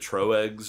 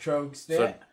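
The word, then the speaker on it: Tröegs: do we all pronounce it correctly? Do they pronounce it Troegs or anything like that? No, or it's is just, it it's, Trogs? it's just Trogs.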